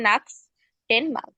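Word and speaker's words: nächsten Mal: হয় তাই না হ্যাঁ এখানে না উচ্চারণ হবে এন এস সিএইচ নাস্টেন মাল না তার তারপরে হচ্ছে মানে খ এর পরে ছয় উচ্চারণ আসবে না টেনমাল আগে নাক্স উচ্চারণ করবেন নাক্স টেন মাল আচ্ছা আর কেউ আর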